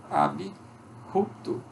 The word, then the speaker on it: abrupto: Nós temos o I também depois do P. Abrupto.